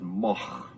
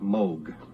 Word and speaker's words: Moog: And in Holland, you would pronounce it Moch.